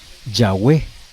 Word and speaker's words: Yahweh: pues concuerdan en que la posible pronunciación más cercana a la verdadera que quedó perdida es pues la pronunciación Yahweh, no Jehová como la conocemos ahora.